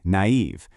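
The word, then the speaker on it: naïve: Or take a word like naive. Those two little dots just tell you to pronounce the a and the e as two separate sounds.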